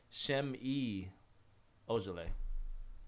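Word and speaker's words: Ojeleye: Oh, I've also found out the correct way to say the other Celtics rookie is Shem-E Ojale. Shemi. Shemi? Shem-E. Shem-E? Shem with an H. Shem-E Ojale. Shem-E.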